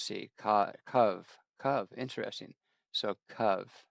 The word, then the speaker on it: cab: It's written in Hebrew as and it gives us the Hebrew letters and pronounced simply as cav. Rhymes with dove in English. So let's see. CV cov. Interesting. So cov not cab.